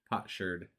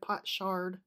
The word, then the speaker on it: potsherd: there's the pronunciation for you. Potsherd. Instead of pot shard.